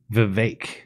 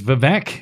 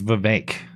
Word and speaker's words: Vivek: I'm informed that the pronunciation is Vivek. Vivek. Seriously? Yeah. I've been saying this incorrectly this whole time. I thought it was Vivek. It is Vivek.